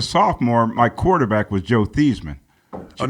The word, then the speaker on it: Theismann: He changed his name from Theismann to Theismann to rhyme with Heisman.